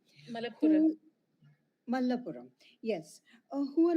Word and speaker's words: Malappuram: Am I pronouncing it right? Mamallapuram? Malappuram.